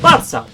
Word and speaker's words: Barça: On the other hand, we have the nickname of "Barça" which is a simple apocope of the word "barcelona" pronounced in Catalan where the "c" is said as an "s".